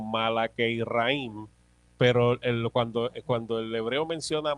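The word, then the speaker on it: מלאכי רעים: El hebreo menciona, se pronuncia algo más o menos como Malakeiraim, pero cuando el hebreo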